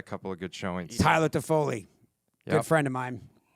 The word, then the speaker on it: Toffoli: Toffoli's guacamole. Toffoli's Toffoli's By the way, guacamole. Toffoli does rhyme with guacamole, Yeah, it Scotty.